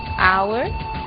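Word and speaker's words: hour: Blue White red yellow o som do H pronunciado desde a garganta como em hotel e mudo em três casos our honest Honor e a frase de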